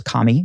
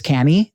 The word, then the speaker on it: Kami: first saw her name, I thought it was Kami, because Kami is Kami in Japanese, but it's Kami and.